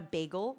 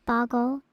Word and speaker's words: bagel: Can we just stop for a second and appreciate the fact that you pronounce it bagel and not boggle?